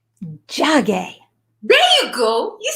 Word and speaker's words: Njage: And will you please tell everyone the correct pronunciation of your beautifully, exquisitely beautiful last name? Njage. Njage.